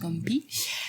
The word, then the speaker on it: Ngo Mpii: So you don't pronounce the N. You say just Ngo Mpii.